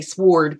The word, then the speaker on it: sword: I know I like to say sword because there's a w in there just like any word